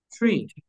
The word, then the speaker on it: tree: Sino que esa TR es igual a CHE. Tree. It's tree.